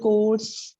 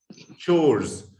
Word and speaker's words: chores: Household course. House. It's not core. Ch. Chores. It is pronounced as household chores.